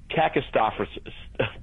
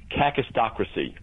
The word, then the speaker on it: kakistocracy: Or a better word, kakistocracy. This is a hard one to pronounce. It's a Greek word, kakistocracy.